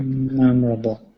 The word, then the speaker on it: memorable: really memorable yeah exactly memorable memorable the only small thing is the pronunciation of memorable we actually almost have that silent o so it sounds like mem uh can you be